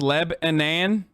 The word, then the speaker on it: Lebanon: near lebanon indiana and it's pronounced leb anan not non but nan lebanon welcome to lebanon hey